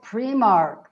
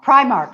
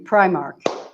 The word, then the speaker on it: Primark: nicely done no oh she likes pre-marked Wow Primark excuse me Primark that I in pronunciation premark I know sorry it's